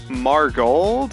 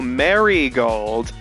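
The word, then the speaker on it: Marigold: uh Rose uh uh how do you pronounce her last name uh marold or oh Mary gold yeah one of them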